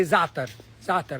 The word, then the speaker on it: za'atar: Say za'atar. Now, za'atar, you can say za'atar. Z-A. But there's a letter in Arabic called za'atar. It's hard to pronounce.